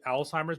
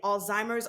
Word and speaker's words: Alzheimer's: so are you saying Alzheimer's Alzheimer's like tell me how how are you pronouncing this I'm saying Alzheimer's okay Alzheimer's Alzheimer's Alzheimer's with a z or a t alz alimer okay that's how I